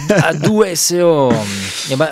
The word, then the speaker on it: A2SO: base, je me dis, ça doit tout prononcer à l'anglaise. Après, je me dis, si je prononce à l'anglaise, les Français ne comprennent rien. Ouais. Et finalement, en fait, c'est à l'italienne. C'est à l'italienne, voilà.